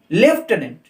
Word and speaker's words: lieutenant: সঠিক উত্তর দেওয়া আছে অপশন বি, LIEUTENANT, লেফটেন্যান্ট। এখানে উচ্চারণের মাঝে একটা ফ আসবে, লেফটেন্যান্ট, লেফটেন্যান্ট, লেফটেন্যান্ট general, defence সেক্টরে আমরা শুনতে পাই শব্দগুলো।